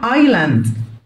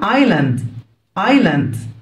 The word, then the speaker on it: island: جزيرة island. الاس هنا silent اكتبها مش انطقها. جزيرة island.